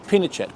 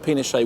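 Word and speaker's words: Pinochet: in Chile to unseat pachette pachette not pet we said pet he corrected us pronounced pachet anyway it's a brilliant political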